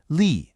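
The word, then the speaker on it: 里: So, let's really focus here because a lot of students get tripped up by this for Lee. It's that third tone. It has to have a dip.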